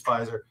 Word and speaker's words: Pfizer: fight here okay i'm just telling you it's fizer um and um it stops viral replication so